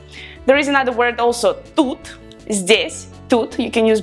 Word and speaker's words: тут: There is another word also, тут, здесь, тут, you can use both.